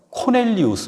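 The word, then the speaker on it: Cornelius: 2분 더 흥미로워 집니다 고넬료는 로마 발음 그대로 소개해드리면 코넬리우스 입니다 코넬리우스 4 코넬리 라고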